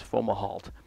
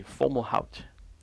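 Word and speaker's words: Fomalhaut: phone call and and many people spell it you know fo mah alts you think it's formal halt but it's actually formal out mm-hmm you know so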